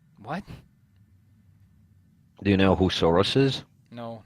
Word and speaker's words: Soros: Do you know who Soros is? No, not really. I might know his name, but only in like Dutch pronunciation, so. It's literally just Soros.